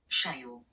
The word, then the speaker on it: cheio: the screen now, and the pronunciation of that word would go something like Cheio.